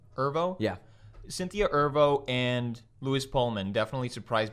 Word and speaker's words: Erivo: Holy crap, of all the people in this movie, it was both Cynthia, how do you pronounce her last name? Erivo. Erivo? Yeah. Cynthia Erivo and Louis Pullman definitely surprised me the most because I haven't seen them in anything else.